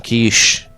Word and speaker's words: quiche: very niche very kichi want some quiche it rhymes with niche it is all right